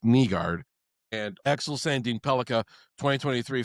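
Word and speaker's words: Nygård: EMTT Finny, Michael Brans said Neguard, it's pronounced Nguard and Axel Sandine Pelica 2023 first round picks.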